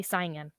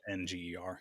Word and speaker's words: Saenger: Southern people say singing. Gotcha. Say Not singing. Saenger.